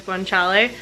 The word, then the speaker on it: guanciale: the name of that other pork product is guanciale and it's like the pig jowl so sorry I couldn't remember how to pronounce it but that's how you pronounce it